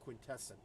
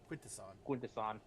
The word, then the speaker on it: Quintesson: as he vivisects another Quintesson. Quintesson. I mean, technically, Quintesson is also correct. There have been shows officially that pronounce it both ways.